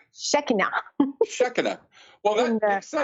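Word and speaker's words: Shekhinah: in the same Concepts that the shine the shikina uh and how do you pronounce that word well I was pronouncing it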